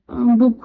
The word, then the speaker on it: Buch: के लिए बुक, बुक, इसका प्रोनाउंसिएशन बुक होगा, ठीक है, BUCH, बी कैपिटल होगा बिकॉज एक नाउन है।